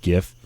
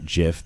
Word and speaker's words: GIF: anyway they decided that it's gif not jif because it's a you know a hard g well it doesn't matter